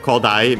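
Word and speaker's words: 古代: Okay, no, this one is one of those accent on the first mora, so the second most common accent for those.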